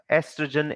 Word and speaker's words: oestrogen: secretes two hormones namely estrogen and progesterone right so estrogen the o is silent but we'll just maybe pronounce it as o estrogen so that for examination purposes we can then spell it correctly so these two hormones